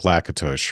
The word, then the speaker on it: Lakatos: It sounds a bit like Lakatos, right? Is that how you pronounce it?